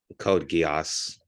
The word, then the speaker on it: Code Geass: show Code Geass and did I pronounce that correctly Code Geass sweet I got it right and yeah so feel